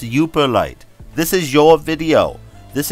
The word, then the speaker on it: Yooperlite: was all yoper light you just say yelper light it's pronounced you perlite this is your video